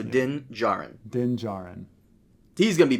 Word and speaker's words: Din Djarin: The D is silent, so Din Djarin.